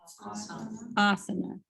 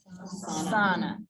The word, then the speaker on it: asana: So that word there, how do we say that word? Asana. It's not, here's what it isn't. What if I did that? Asana. Have you ever heard it said that way?